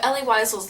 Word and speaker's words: Elie Wiesel: This book is a memoir of Elie Wiesel's life. I don't really know how to pronounce his name, but I'm going to call him Elie Wiesel because I think that's right, but sorry if that's wrong.